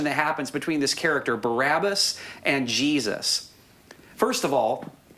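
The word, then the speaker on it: Barabbas: by uh is actually a compound word made up of two words bar which means son of and ABA which means father so you may recall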